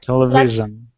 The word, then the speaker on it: television: much better much better television tele Vision television and when you say television tell is the number loudest syllable television stress stress syllable television good good great